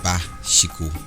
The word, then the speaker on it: Pashiku: In Jukun land, a witch is known as a Pashiku, pronounced Ba-shiku, or an Aku, and is to be distinguished from the following.